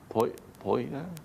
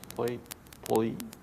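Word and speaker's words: Pohjola: And Poila? Yes. Poila. Poila. P-O-Y-L-A. P-O-Y-L-A. Poila. And how do you actually spell it?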